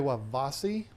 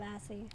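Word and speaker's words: trewavasae: And I probably don't pronounce it the right way, but that's how I'm I've pretty sure it's always- Trewavasi, but you can say I Vasi and nobody's going to be mad. Trewavasi.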